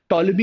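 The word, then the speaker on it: Ptolemy: बहुत इजली याद रहेगा टोलमी इस की स्पेलिंग पी से चालू होती है पी साइलेंट है बहुत सारी चीजें हैं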